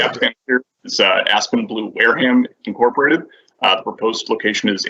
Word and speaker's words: Wareham: Is it Wareham or Wareham? Wareham. I believe it's Wareham.